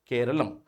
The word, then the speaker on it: Keralam: So Kerala is nothing but the anglicized form of Keralum. Now they're going to shift it to proper malalum style keralum.